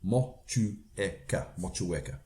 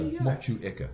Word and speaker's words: Motueka: my time, so it's Motueka. So okay, so the E's pronounced almost on its own. Yes, so yes. So Motueka, and Riwaka is the other one there, and Taiheki.